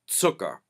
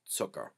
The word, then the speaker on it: Zucker: sound often, well, ever with the letter Z in English, but that's what you want to do in Pennsylvania Dutch. Tse, tse, zucker, zucker. Okay?